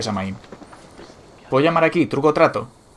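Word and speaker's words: Samhain: Se pronuncia Samaín.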